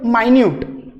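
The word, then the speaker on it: minute: आता याचाच एक वेगळा उच्चार होईल मायन्यूट. मायन्यूट एक्सप्लेनेशन दिलं त्याने, म्हणजे सूक्ष्म. या मायन्यूटचा अर्थ स्पेलिंग हेच आहे, स्पेलिंग सेम, दिसायला एक्झॅक्ट, पण उच्चार तुम्हाला त्या ठिकाणी पण कसे दिसत आहे बघा, वेगळे वेगळे दिसत आहे. इथं मिनिट करतोय आपण उच्चार, इथं मायन्यूट आहे आणि उच्चार वेगळा झाल्याबरोबर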